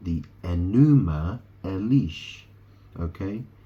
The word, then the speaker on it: Enuma: I mean, if you heard of the Babylonian creation epic, it's called the Enuma Elish. Okay? It's very similar. It's spelled E-N-U-M-A. Right? It's very similar to enema, which is E-N-E-M-A.